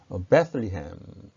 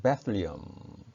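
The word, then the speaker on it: Bethlehem: 베들레헴은 베틀리햄 혹은 베틀리엄 이렇게 발음하고 유다지방, 유대지방은 주디어 이렇게 발음합니다.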